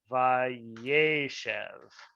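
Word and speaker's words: וַיֵּשֶׁב: And then since you add the past narrative on it, the Vav consecutive, the accent shifts. I'm sorry, this should be Yeshev. The accent should be on the second syllable. Once you add the Vav consecutive on it, Vayeshev, it shortens. the second Sere to a Segol.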